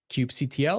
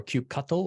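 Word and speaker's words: kubectl: variables for us nicely Cube CTL or cube cattle or cube control however you want to pronounce it we're still friends that's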